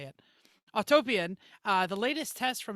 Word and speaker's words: Autopian: i even told me how to say it autopian uh the latest test from insurance institute of